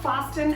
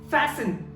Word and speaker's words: fasten: No, this is not fasten at all. The correct pronunciation is fasten.